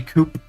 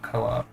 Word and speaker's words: coup: Yes, that's how you pronounce uh that's how you pronounce the the the second part of your name. Um it's it's definitely coup instead of co-op.